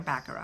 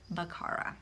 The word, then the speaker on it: Baqarah: it by Baqarah Whitner I've been saying her name wrong this entire time I've been calling her backer oh but it's Baqarah so I apologize and